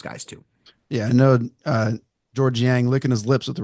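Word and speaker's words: Georges Niang: I called him Georges Yang. Georges. Yeah, I pronounced the S.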